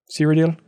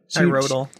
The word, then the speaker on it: Cyrodiil: How do you pronounce the Elder Scrolls 4 thing? Cyrodiil? Cyrodiil.